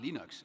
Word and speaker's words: Linux: And I said, it's pronounced Linux.